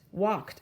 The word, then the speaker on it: walk: know the word walk it has an l in it but we don't say walk right the l is silent walked okay let's try